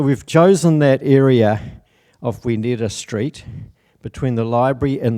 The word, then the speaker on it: Wi Neera: And so the Maori pronunciation of that is Wi Neera, or Wiramu Neera.